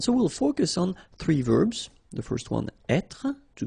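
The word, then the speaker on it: vert: remember rou ver so masculine form don't pronounce the final T ver feminine form ver so listen carefully I don't say t but it's ver ver Okay so as usual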